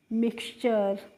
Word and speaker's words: mixture: ऐसे ही MIXTURE, तो देखो MIX को बच्चों हम क्या पढ़ते हैं, मिक्स, और TURE को पढ़ लिया यहाँ पे चर, तो इसको हम पढ़ेंगे मिक्सचर।